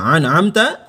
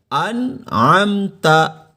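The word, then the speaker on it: أنعمت: Ini hati-hati nih, perhatikan ada a dan a. Masih ingat? Bagi Anda yang sudah belajar di video saya sebelumnya, sudah saya jelaskan cara membedakan pengucapan huruf A dengan A. Anda lihat ya di video sebelumnya ya. Siratal ladzina an'amta alaihim. Bukan dibaca an'amta, melainkan an'amta alaihim.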